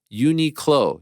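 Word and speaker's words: Uniqlo: have to respond to mysterious Frank Unico is pronounced uni clo you said it right yep sure did next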